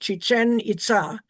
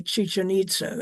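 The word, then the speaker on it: Chichén Itzá: accent and that's pronounced chichen it with the accent on the last syllable and people always mispronounce it say chichita is chichen It's a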